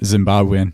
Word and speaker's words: Zimbabwean: don't like us have you got a zimba zimbabweizen is that how you say it Zimbabwean Zimbabwean no I don't have a Zimbabwean passport